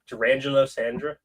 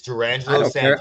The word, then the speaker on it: Durangelo Sanja: Durangelo Sandra? That is not what his name. That is not that. Nope. I just got the pronunciation on it. I looked it up. It's Durangelo Sanja.